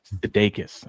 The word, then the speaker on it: Sudeikis: Sudeikis? Okay, Jason here. Oh, Jason Sudeikis. Yeah. Sudeikis.